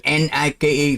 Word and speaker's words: Nike: Vậy chữ ở dưới phải đọc là night. Mới đúng với cái phát âm ở trên này, hay và night. Không, Nike.